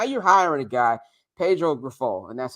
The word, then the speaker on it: Grifol: And now you're hiring a guy, Pedro Grifol, and that's how you pronounce the last name, Grifol, who I'm just happy because he's from another organization.